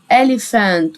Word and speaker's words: elephant: كلمة فيل ألي، يلا بينا كده ألي، البي والاتش انطقها اف ف ف elephant، وآخرها كلمة أنت نملة elephant elephant elephant.